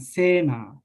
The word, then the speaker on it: sena: These words this A we pronounce long because there are only one consonant. There is only one consonant, deva. And sena, same here. We pronounce long because there is a one consonant.